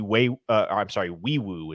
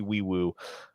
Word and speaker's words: Nwaiwu: Right guard Fabichi Wiwu is how you pronounce his name.